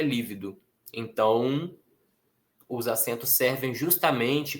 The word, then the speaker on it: lívido: Sem acento eu teria lido livido, com acento eu sei que é lívido.